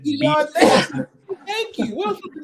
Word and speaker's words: Bijan: I always do like Dijon. I think is how you say his name. Bijan, yeah.